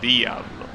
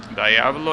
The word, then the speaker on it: Diablo: car Lamborghini Diablo but since obviously it is an Italian car I'm pretty sure you're supposed to save Diablo Diablo is the way that an angler will pronounce it which you know it's fine but since the car is Italian I think I should probably pronounce it as the outlaw right but I've been so used to hearing Diablo that it will kind of be weird to call it any other way keep the speed